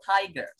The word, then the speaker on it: tiger: the meaning is harimau Tiger bacanya taider naikin smake adalah ular-ular